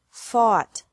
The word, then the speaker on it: fought: or a a u g HT but the pronunciation is the same bring brought brought buy bought bought catch caught caught fight fought fought seek sought sought teach taught taught think